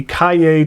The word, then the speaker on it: Cahier: the pebble stationery company Calle Tomo a river notebook Calle is not spelled like it sounds at least for English speakers it is CAH ie are its cashier without the s Calle is another word